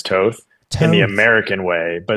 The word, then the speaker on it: Toth: way, but it's actually it's Toth in European, but I go by Toth just because growing up, it was so easier for Americans to pronounce Toth than Toth. So I just generally went with Toth instead of Toth, but Toth is technically correct.